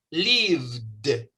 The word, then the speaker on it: lived: Veamos el primer verbo en este caso. El verbo live. Si usted se pone la mano acá, cuando pronuncia live, usted dice live. V. Ese último sonido, v, produce una vibración aquí. Por esa razón, ese verbo, cuando lo pronunciamos en pasado, debe sonar lived.